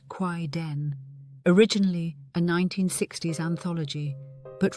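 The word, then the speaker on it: kaidan: Japan also produced Quaidon, pronounced Quaid Den, originally a 1960s anthology, but revived and reinterpreted in various forms over the decades.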